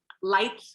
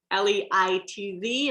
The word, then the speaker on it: Leitz: Leitz, one of our favorite producers, Leitz. If you ever see it, I always remind myself we pronounce it like lights out.